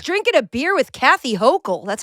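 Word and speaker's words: Hochul: I was drinking a beer with Kathy Hokll.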